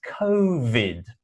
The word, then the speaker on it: COVID: It's COVID, v. The same as coronavirus, v. If you find the V sound a little bit difficult, you can use the F sound of f, but try to add a